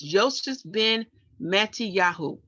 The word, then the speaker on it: Yosef ben Mattiyahu: But in the Hebrew tongue, we learn that his name is actually pronounced, let me go back, as Yosef ben Mattiyahu.